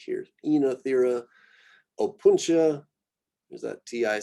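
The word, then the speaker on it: Oenothera: Oh, Ossimum, Enothera is how this one gets said. So it's kind of the two vowel construction becomes a longer E here. Enothera.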